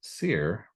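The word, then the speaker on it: sere: I believe it's pronounced seer, but it's S-E-R-E.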